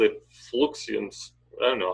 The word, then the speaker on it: fluxions: He called it fluxions. I don't know how you pronounce that. F-L-U-X-I-O-N. Fluxions.